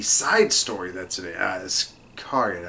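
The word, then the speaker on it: Iscariot: Iskariot, I believe is how it's pronounced.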